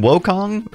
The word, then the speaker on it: Wukong: gets Sun Wukong sun is it sun woong or I think it's woo right even though it's spelled wo wo for Americans it is